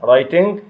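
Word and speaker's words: writing: ريدنج القراءة, رايتنج الكتابة, عندنا الدبليو مش بنطاها, رايتنج, ليسننج التي برضو مش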